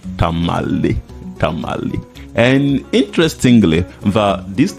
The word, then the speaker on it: Tamale: In fact they uh could not pronounce the name tama but they mispronounce it and that is how come that we have the name tamalei tamalei and interestingly that